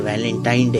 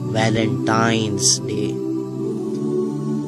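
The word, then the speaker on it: Valentine's Day: करें इसे जो आम कहा जाता है यह वैलेंटाइन डे है लेकिन हकीकत में जो इसका प्रोनाउंस एशन है वह है वैलेंटाइंस डे य एक वैलेंटाइन वाला दिन है और उस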